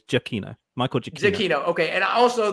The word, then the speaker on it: Giacchino: rough so real quick is it giacchino or giacino you don't say that you don't do two syllables on Gia it's jokino Michael Jackson okay and